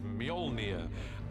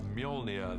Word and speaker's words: Mjolnir: The first challenge with a hammer is to work out how to pronounce it, which is Mjolnir in our movie at the moment. Until somebody corrects me, I'm sure they will. Mjolnir, the hammer, this awesome weapon for Thor, extraordinarily powerful.